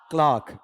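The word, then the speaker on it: clerk: Blank his dishonest क्लर्क क्लार्क इसका उच्चारण बताओ क्या है? इंग्लिश में लिखवाओ क ल आ और फिर क ये बीच वाला ऑप्शनल है। क्लर्क या क्लर्क नहीं होता है। क्लर्क नहीं बल्कि क्लार्क क्लर्क भी नहीं होता है।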